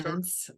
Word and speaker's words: Viens: Viens. Okay, Viens, like emphasis on the second French syllable.